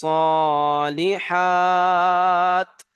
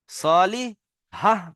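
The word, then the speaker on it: الصالحات: সলি হাহ পড়া যাবে না, কি পড়তে হবে? সলিহাত।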